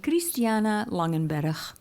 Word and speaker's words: Christiana Langenberg: So if I was going to pronounce my name correctly for all y'all Americans, it would be Christiana Langenberg.